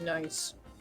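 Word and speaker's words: gneiss: I think it's pronounced nice.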